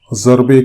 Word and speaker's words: ضرب: وہ ضرب کلیم ہے، ضرب کلیم نہیں ہے۔ لیکن اردو والوں نے ضاد کو ضا پڑھنے، تلفظ کرنے پر اتفاق کر لیا ہے۔ تو اسی لیے اردو